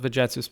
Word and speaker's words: Vegetius: I also made a video back in the day about the Romano-Celto-Germanic virtus, mostly from Tacitus, Vegetius, but Vegetius, if you prefer the ecclesiastical pronunciation for later antiquity, but also describing the